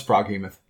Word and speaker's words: Froghemoth: Do you think the GH in Froghemoth can actually be pronounced like an F? It could be a Froghemoth. Froghemoth? A Froghemoth. Froghemoth. Froghemoth. Froghemoth. No, it's Froghemoth.